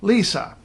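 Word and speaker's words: Liisa: know close enough so take for instance popular Finnish girls named Lisa now in English we spell that L is a but in Finnish if you spell it that way it will be Lisa they don't want to say Missa they want to say Lisa so Li is a hear the difference Lisa Lisa tip four this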